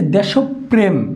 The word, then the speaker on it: দেশপ্রেম: তার মানে এই যে দেশপ্রেম দেশ প্রেম এখানে দুইটা অসন্ত হবে কারণ প্রেম শব্দটার শেষে আমরা আর কোন কিছু উচ্চারণ করি না তাই দেশপ্রেম ওকে তারানে